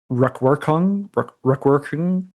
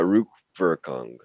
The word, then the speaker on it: Rückwirkung: of meat of the retroactive structure, Nachtraglichkeit and Rückwirkung, the future anterior. What's the, pronounce it for me again? Yeah, Rückwirkung.